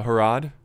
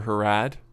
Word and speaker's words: Harad: But here's Harad, or Harad, however you want to pronounce it. Either way, it works.